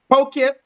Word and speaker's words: Poughkeepsie: It's Poughkeepsie. Poughkeepsie. Yeah. Poughkeepsie. Okay. I don't know why I was saying something else. Okay, but he lives in Poughkeepsie.